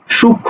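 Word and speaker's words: সূক্ষ্ম: আসছি চন্দ্রবিন্দু নিয়ে আসছি এজন্য যুক্ত ব্যঞ্জনের সঙ্গে সংযুক্ত ম ফলা কি অনুচ্চারিত থাকে কথা বোঝা গেল অনুচ্চারিত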